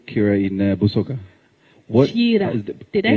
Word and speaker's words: Kiira: Kiira. Did I say it right? Well done. Kiira.